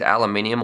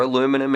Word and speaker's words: aluminium: really like this part, these aluminium or aluminum if you're in the States, even though I think aluminium's the correct way to say it.